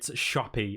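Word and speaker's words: Shoppe: Shop, and of course, shop is spelled with 2 P's and an E. Oh, I thought it was going to be spelled like shop. Look, how do you spell that? SHAWP. Shop. Shop. No, sadly not. It's shoppy, I'm afraid.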